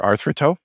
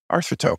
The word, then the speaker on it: Arthroto: we we internally prefer artho but it doesn't matter how you pronounce it yeah I heard from another interview it's about it's a Greek uh term for coming together or bringing together join for join yeah